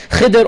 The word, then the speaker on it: Khidr: And the hadith literature tells us his name is Khidr or Khadr or Khudr. There's different ways to pronounce it.